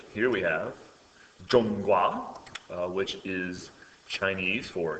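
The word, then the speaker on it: 中国: And um just to remind you what that looks like here we have Jong Gua uh which is Chinese for China and uh this is pronounced Jong and this is pronounced gua.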